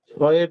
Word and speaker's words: ছ: ছয়ের দিকে বিশেষভাবে মনোযোগ দিতে হবে। ছটা ছুটে যাচ্ছে বারবার। হ্যাঁ, ছ, জিভের মাঝখান তার বরাবর উপরে তালুর সাথে ঘষা দিয়া উচ্চারণ করতে হবে ছ।